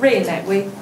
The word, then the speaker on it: Rui Naiwei: It would be Rui Naiwei. It would be Rui Naiwei. Rui Naiwei? Yeah, there we go.